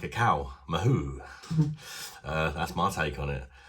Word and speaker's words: Mahou: It's called, I think it's pronounced Mahou, something like that, and it's a Spanish lager type beer.